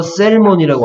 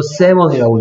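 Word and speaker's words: salmon: 이거 셀몬이라고 안 읽고 세먼이라고 읽죠. 그러면 세먼에서 조심해야 될 게 뭘까요? 조심해야 될 게 누구가 L이 소리나지 않는다는 거 조심해야 되겠죠.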